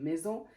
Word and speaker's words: maison: فاش كتجي الاس ما بين لي فويال elle se prononce يعني كتنطق ز، donc فاش الاس كتكون entre deux voyelles elle se prononce z, comme maison, cerise, cousin, poison aussi,